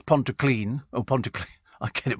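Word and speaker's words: Pontyclun: tidy says Nigel from Pon Clon that's Ponto clean oh Ponto I get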